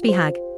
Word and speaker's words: BHAG: while preserving the core a bhag pronounced beag short four big hairy audacious goal is a huge and